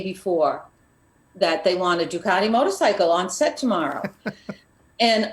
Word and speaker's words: Ducati: oh i needed a what is it a ducati motorcycle yeah yep is that was that am